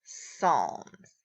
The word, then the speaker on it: Psalms: puss alms we just don't pronounce the P so it's P as a L and asks Psalms okay and that leaves our